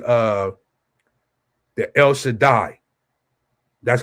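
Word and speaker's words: El Shaddai: the Allah Shadaya in the Hebrew or in the modern Hebrew you would say uh the El Shadai that's how you say it in the modern Hebrew the word that I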